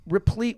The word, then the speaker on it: replete: And history's replete with examples. Is that the right word? Replete? Sure. Thanks. Wow. Well done. Replete. That's good. Yeah, 2 syllables.